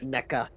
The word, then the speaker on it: NECA: Or NECA.